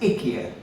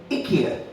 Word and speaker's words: IKEA: also there um uh of course there Ikea now it's now pronounced Ika the idea of getting installing Ikea furniture was to get rid of iy furniture and now you're installing ikia Furniture so it's a point